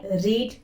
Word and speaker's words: read: जब आपको इस वर्ड का यूज प्रेजेंट सिंपल में करना होगा, जैसे मैं बुक्स पढ़ती हूँ, आई रीड बुक्स, तो यहाँ पर हम इसे रीड प्रोनाउंस करेंगे।